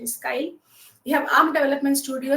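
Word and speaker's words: Keil: If if the team cannot recollect Kai some some people call it as Kil but the correct pronunciation is Kai.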